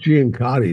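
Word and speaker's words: Ciancutti: Call him Giancotti is probably the closest.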